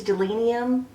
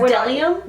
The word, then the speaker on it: Bdellium: It starts with a B and ends with M. It's weird. But I think it's either a silent B or a silent D. It's a silent B. I looked that up for sure. And then so it's Bdellium? Bdellium, yes.